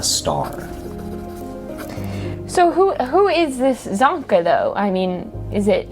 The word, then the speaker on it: Zonka: You said it right, Zonka.